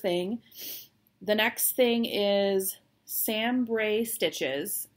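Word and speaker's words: SamBrie: the next thing is sam bray stitches i'm going to spell it because it doesn't it doesn't sound like sanbury sambri it's s a m b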